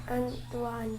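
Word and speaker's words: Antoine: Antuan Antuan Ah okay.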